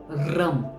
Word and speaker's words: रम: ये है ओम रम, RAM, रम। देखिए, आप जैसे ही इस वर्ड को उच्चारण करोगे, इस बीजाक्षर मंत्र को उच्चारण करोगे, आप देखना आपके टंग में एक फ्रिक्शन होता है, रम।